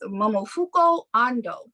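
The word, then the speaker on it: Momofuku Ando: know anything about is let me try to pronounce his name correctly and not jack it up okay it's momofuko ando do you know who that is no not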